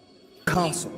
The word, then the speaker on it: castle: Now we can repeat after Harry Potter castle. Castle. Yeah. So the thing is that the the T there is not pronounced.